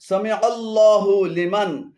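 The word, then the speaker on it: سمع الله لمن: এখানে সামিআল্লাহ এবং হুলিমান উভয়টি ভুল উচ্চারণ। শুদ্ধ উচ্চারণ হবে সামিআল্লাহু লিমান, সামিআল্লাহু লিমান।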